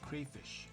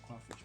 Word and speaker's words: crayfish: Alright, so this is spicy crayfish. Not crawfish because it is spelled with a Y.